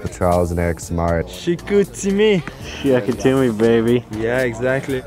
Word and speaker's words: Chicoutimi: Chicoutimi.